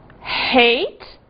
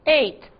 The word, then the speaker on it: hate: aproveitar herói Hero e cuidado aqui com o seguinte hate ódio ou odiar que se não for pronunciado o h pode dar uma confusão e virá o passado de e que é e aí fica o passado de comer não é Cuidado hate ate temos mais exemplos R